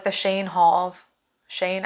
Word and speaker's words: Shein: I mean, if you think about like the Shane hauls, Shane, I think is how you say it, on TikTok and even